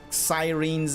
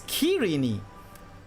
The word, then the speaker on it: Cyrene: So, Cyrene, the way I pronounce it, is the British pronunciation of the name. The way the American pronunciation is Cyrene. Interesting. Cyrene. That's the American pronunciation. The Greek pronunciation is Kyrene. And the Japanese pronunciation is Kirene. It's all different.